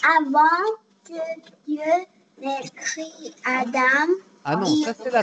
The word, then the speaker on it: Adam: Lulu, on prononce le nom Adam.